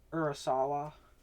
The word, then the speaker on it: Urasawa: If you like Urasawa, did I pronounce that right?